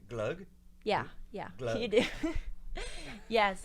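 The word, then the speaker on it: Gløgg: Glug.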